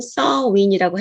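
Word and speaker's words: Samhain: 그것이 사실은 그, 이, 서윈이라는 아이리시 발음으로는 서윈이라고 해요. 근데 스펠링을 보면 삼해인이에요. 한국말처럼. 음, 하지만 아이리시가 원본이기 때문에 그 발음은 서윈인데 귀신들이 찾아올 것을 알고 10월 31일 그들은 여름이 끝난다고 합니다.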